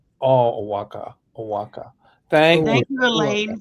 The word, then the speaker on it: Oaxaca: And evidently, Mel, you say that like this. Oaxaca. Oaxaca.